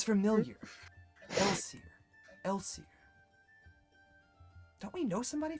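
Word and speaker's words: Elsir: Elsier.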